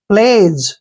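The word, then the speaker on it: pledge: यह ध्यान रखना है जी से पहले अगर डी आता है तो वहां पर डी साइलेंट होता है यानी वहां पर हम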